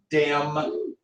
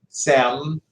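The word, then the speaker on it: Diệm: I know it's Diem, but it's pronounced Sem.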